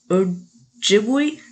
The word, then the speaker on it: Ojibwe: and I'm sorry, here I'm not going to say this right, Ojibwe. Yeah, I totally butchered that. I am so sorry. I've never been able to figure out how to pronounce this. It's Ojibwe.